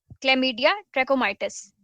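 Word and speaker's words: Chlamydia trachomatis: तो वो है क्लमडिया, ट्रैकोमाइटिस। यह इसकी करेक्ट प्रोनाउंसिएशन है और यह गंदगी की वजह से फैलते हैं।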